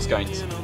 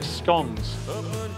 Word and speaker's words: scones: Scones or skanes? It's pronounced scones.